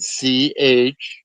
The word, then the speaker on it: Cahokia: Cahokia.